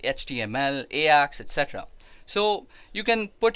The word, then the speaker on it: AJAX: is because it's under ax security or Ajax if you might pronounce it that way so in this is